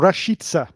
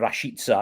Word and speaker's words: Rashica: my friend milot or rashitsa is how he pronounces himself so we go by